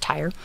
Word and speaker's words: Tyre: Or Tyrian, I'm not quite sure, because the town it's named after is Tyre, Tyre. I googled how to pronounce it. Apparently it's just Tyre.